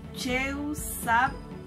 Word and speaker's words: cheusabil: Y esta palabra se pronuncia en mam, cheusabil. Se lo digo despacio porque es un poquito larga. Cheusabil. Tiene glotal en la B, entonces le vamos a darle un poquito de más énfasis.